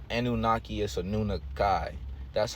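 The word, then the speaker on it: Anunnaki: were anunaki okay anunaki is not anunaki is a nun Kai that's how it's pronounced and on the island of California I'm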